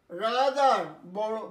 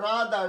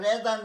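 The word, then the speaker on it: rather: রাদার বরং, বল না আমি বরং ভিক্ষে করবো তবু চুরি করবো না, বরং। রাদার উচ্চারণটা রাদার, রেদার নয়, রাদার। টিএইচইআর দিয়ে অনেকগুলো শব্দ সেদিন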